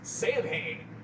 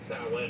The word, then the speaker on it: Samhain: On the songs Samhain and November's Fire, Danzig pronounces it Samhain in accordance to its Celtic pronunciation.